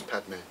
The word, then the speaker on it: padme: Well, it is strictly speaking, it is Padme. Yeah. But Tibetan tend to pronounce it Penme.